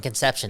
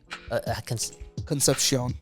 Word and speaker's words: Concepcion: John for a bit, and Conception, that's how you pronounce his, Concepcion.